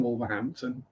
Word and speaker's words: Wolverhampton: Yeah, you see, you do have the T in Wolverhampton, but you don't have the H. Wolverhampton.